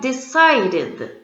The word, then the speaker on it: decided: have three different sounds the first one I decided can you hear the sound of the Ed D decided and next one I